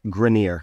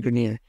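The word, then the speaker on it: Greiner: Cuban and Laurie I don't know how to pronounce their last name I don't really know what it is what is it grineer grineer okay Lori Grenier and Mark Cuban 450 000 for six percent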